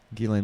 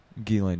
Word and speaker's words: Ghislaine: What I like about Ghislaine's name is the S is silent. Yeah. The S standing for the second grader that she has tied up in her basement is silent. Ghislaine Maxwell can enjoy movies,